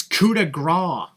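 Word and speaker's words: coup de grâce: It's coup de grace. The C is silent, Michael.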